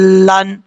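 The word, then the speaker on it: ضالين: ضاد الف لام زبر، ضال، لام زبر، لام دو زبر، لن، ضالن، اس طریقے سے پڑھنا ہے.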